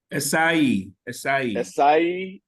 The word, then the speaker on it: Asai: Asai, like an acai bowl.